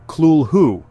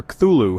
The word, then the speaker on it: Cthulhu: Lovecraft originally intended the name to be pronounced closer to Kulhu as it comes from an alien tongue beyond human speech. However, the simpler Cthulhu has become the common form.